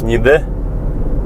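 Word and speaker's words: Niğde: по-русски звучит как нигде там стоит буква Г которая в турецком языке не произносится а турки произносят это слово как нид а русские нигде вправа в сторону нигде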